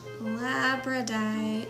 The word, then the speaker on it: labradorite: Labradorite.